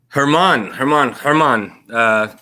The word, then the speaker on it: German: Herman, also spelled German.